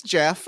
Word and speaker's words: Jeff: Oh, it's it's Jeff. It's Jeff, J E F F. J Yeah, Jeff, right. Yeah, the standard pronunciation of Jeff.